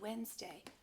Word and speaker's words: Wednesday: that's in the future it's so hard to enunciate that word but if you don't enunciate it you really can't spell it by sound because most people don't put all the syllables in when they say it we say wend Wednesday